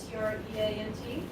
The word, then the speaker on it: Treant: Pronounced treant. Treant.